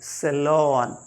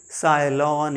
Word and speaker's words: salon: then SALON, सैलॉन, न कि साइलॉन या कुछ और, सैलॉन, the place where we